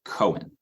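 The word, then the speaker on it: Cywen: I told you this offline, but the audiobook narrator said Cohen. Oh, no. However, at some point in the book, Corbin calls her C-Y, which would not support a Cohen pronunciation of the name. I think it's Cywin, right?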